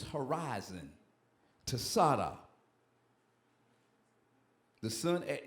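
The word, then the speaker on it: Tsadi: So we're going to pronounce it. It's Tsada.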